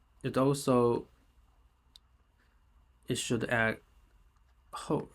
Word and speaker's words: 后: Actually, it also it should add ho right after.